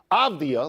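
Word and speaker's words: Avdija: I'm not going to get into Avdia, even though I'm finally pronouncing it correctly.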